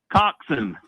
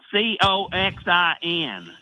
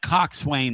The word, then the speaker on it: coxswain: Coxon. It's like Coxin. That's how it's pronounced. Because people on here were saying like coxswain and stuff.